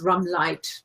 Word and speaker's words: Ramlied: their name, but then I guess everybody pronounces it in English because they're an English band and they're in England. Hence it's Ramlight, but it's spelled L-I-E-D.